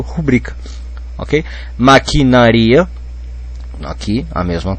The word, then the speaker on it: rubrica: aí você pensa bom se fosse rúbrica o autor teria que ter posto acento no u porque porque seria paroxítona desculpe porque seria pró paroxítona mas se ele não pôs Então é porque é paroxítona e eu leio rubrica ok maquinaria aqui a